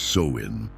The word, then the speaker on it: Samhain: The origins of Halloween trace back to the ancient Celtic festival of Samhain, pronounced Samhain, celebrated over 2,000 years ago by the Celts in regions that are now Ireland, Britain and northern France.